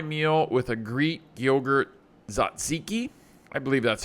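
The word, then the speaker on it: tzatziki: I started my meal with a Greek yogurt zaziki I believe that's how you say it it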